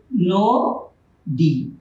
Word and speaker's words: নদী: আমরা যদি লিখি নদী, উচ্চারণ হবে নো ডি। এখানে ন, নর সাথে একটা অ আছে ন, আর তার পরবর্তী বর্ণে আছে দীর্ঘিকার। এই দীর্ঘিকার থাকার জন্য এই আদ্য অ এখানে ওকার হয়ে গেছে, নো ডি।